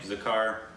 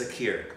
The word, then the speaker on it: Zakir: are an absolute Master say his name zakar I think it's Zakir Zakir Hussein yeah he if